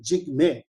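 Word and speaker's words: Jigme: also making sure now when you pronounce my name jig may so see jig and mei these are two different words okay jake means fear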